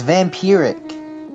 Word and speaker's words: vampiric: It's vampiric, Cameron. That's how you pronounce it.